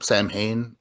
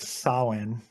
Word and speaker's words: Samhain: That's Um, because it's pronounced Samhain or something is like it? that. I know Yeah. it's like it's not Sam Hain, but he pronounces it that way, I think, Oh, does right?